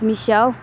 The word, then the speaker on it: Michel: you want to learn Michael in French it's Michel mother Frank so I'm just basically walking through